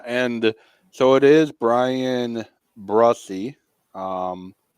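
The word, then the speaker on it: Bresee: first round yeah and so it is Brian brussey um how it's pronounced uh the Saints pick the concern you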